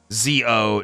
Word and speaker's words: ZO: Cross, Black RX, Shin, ZO, J. There we go. ZO is after Decade. Oh. Wait, no, the movie. ZO. The movie. Or is that pronounced differently? Oh, Z-O.